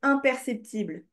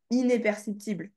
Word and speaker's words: imperceptible: est fermé il est imperceptible ok oui ok peut pas le percevoir mais du coup tu prononces bien un et pas inperceptible ok imp ok donc efficace inefficace